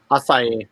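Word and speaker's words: açaí: It is the do we pronounce it acai? Acai, but go ahead. So it's acai lemonade, and it also has blueberry in it,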